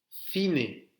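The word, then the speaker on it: cine: Ensuite, fine. Fine, donc là aussi, c'est comme le TH. Fine, c'est le cinéma. El fine, le cinéma.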